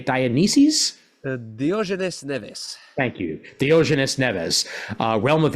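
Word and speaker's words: Diógenes Neves: uh di I always I always get that name wrong is it di dianis dioes NES thank you Dianes Neves uh realm of X and Suicide Squad and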